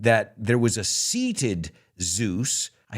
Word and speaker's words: Zeus: in the Temple of Zeus and if you notice we don't say Theos we say Zeus we know Zeus he's